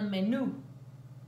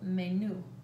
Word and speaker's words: menú: It is spelled exactly the same as English, but pronounced el menú, el menú.